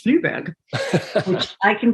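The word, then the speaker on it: Flyvbjerg: It's spelled with this like agglomeration of consonants, and it turns out it's pronounced Fluberg, which I can pronounce because I'm German by background.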